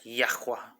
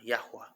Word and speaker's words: Yahuah: like YAHUAH, like YAHUAH, like you're guttering a word that should not be guttered. Some people do that, and it gets confusing. But it's Yah. If you're gonna say it like that, it should be like YAHUAH, YAHUAH, like no gutter. YAHUAH should be clean.